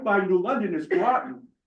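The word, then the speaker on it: Groton: by New London is Groten at Grten also on the Thes River and before you laugh at me that's how they pronounce it laugh at Not me, the famous river.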